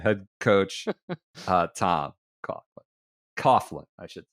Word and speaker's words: Coughlin: to Tom no because he's pronounces it Coughlin I think she goes with the coglin should be could be